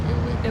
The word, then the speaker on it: Ewe: Ewe.